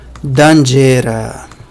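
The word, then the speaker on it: danĝera: Próximo, dangera. Eu acho que a pronúncia é semelhante com a palavra que corresponde em inglês.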